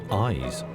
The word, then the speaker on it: YZ: otherwise known by the initials yz pronounced eyes and that's a clue